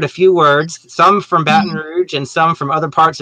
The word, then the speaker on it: Baton Rouge: we've already mentioned several times how do you pronounce that kim baton rouge correct congratulations all right all right now for